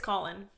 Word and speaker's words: Colin: Netflix show did I pronounce that right yeah you pronounced all of them right his name is Colin not colon right it's Colin okay Simon Simon Daphne